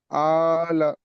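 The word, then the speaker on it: الأعلى: সাব্বি সাব্বি রাববি কাল আলা আলাটা এক আলিফ টান ঠিক আছেলা তাহলে আমরা কি বুঝলাম সাব্বিহিসমা রববিকাল আলা সবাই পড়েন একদম মুখস্তের মত করে নেন।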